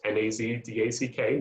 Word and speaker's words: NASDAQ: three other examples of stocks within the dow nasdaq and just in case somebody needed to know how it's pronounced nazdack nasdaq um so the first exchange to go